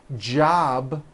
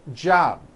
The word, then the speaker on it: job: a tea for example in the word job you may be saying job without a B sound or the B is